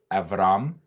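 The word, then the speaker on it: אברם: be there the next one is abram it's avram name is shem forever or eternity straight up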